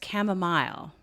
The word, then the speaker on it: chamomile: And it's chamomile in the UK and in Canada, where I'm from. That is the proper pronunciation.